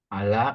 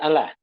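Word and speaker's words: ألا: Ala, ketahuilah, innahum, sesungguhnya mereka membuat kerusakan, senantiasa membuat kerusakan, akan tetapi mereka tidak menyadarinya. Harapkan. Ala, anla. Enggak, bukan Allah. Nah, kalau Allah, Allah bacanya.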